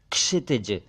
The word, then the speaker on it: क्षितिज: लोग कुछ लोग क्षितिज कह देते हैं जबकि यह है क्षितिज क्षितिज एक शब्द है क्षीण